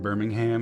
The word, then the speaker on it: Birmingham: I'm from Birmingham, and the emphasis on ham is upsetting, but we just love ham. It deserves some emphasis.